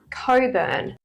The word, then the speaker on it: Cockburn: one we have is Coburn but that's it's spelled c c k cockburn is what it's spelled like you're telling me you don't pronounce the CK so it's Coburn this is silent Co